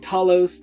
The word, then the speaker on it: Talos: Also, they pronounce it like 3 different ways throughout the. It's like Talos, Talos. They say Telos at some point, which is just a Doctor Who planet.